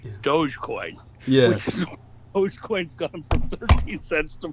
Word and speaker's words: Dogecoin: G Dogecoin yeah which dogecoins gone from 13 cents to 40 cents yes no that's that's the first thing I thought of was uh doggy but you're right you're pronouncing it correctly Dogecoin and uh Doge that's